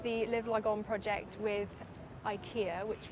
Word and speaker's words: IKEA: You guys asked me to be part of the Live Lagon project with IKEA, which we now know is pronounced IKEA.